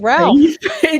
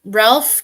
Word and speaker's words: Ralph: Ralph can be pronounced Rafe especially in Southern England oh there you go okay well Southern England has an issue uh Rafe is the traditional Old English pronunciation the L was never voiced W okay I stand